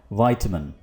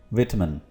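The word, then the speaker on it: vitamin: और British English में इसको बोलेंगे विटामिन।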